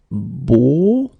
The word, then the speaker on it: beau: And of course, the deeper one, beau. Okay, so this one is really, really low or deep.